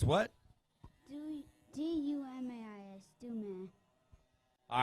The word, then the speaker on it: Dumais: D-U-M-A-I-S.